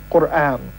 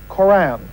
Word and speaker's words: Qur'an: The Arabic word for recitation is Qur'an, or Qur'an, as we pronounce it in English.